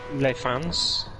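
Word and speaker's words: Les Fagnes: And this section I call Les Fans. I presume it's a silent G.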